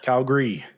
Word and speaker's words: Calgary: weir is um pronunciation say Calgary for me Calgary Calgary Calgary c a LG r y is how we say it Calgary Calgary um you